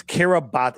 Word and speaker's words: Kiribati: And it was registered to the nation of Kiribati and it it's Kiribati it's spelled Kiribati, right?